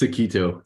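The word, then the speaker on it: toqito: and Main developer of okito uh pronouncing right close enough how do you pronounce it it's a keto kind of like the uh the dish yeah it's an open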